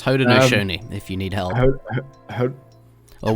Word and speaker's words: Haudenosaunee: We shorten a lot of the, but yeah, that Haudenosaunee is how you pronounce it if you're struggling.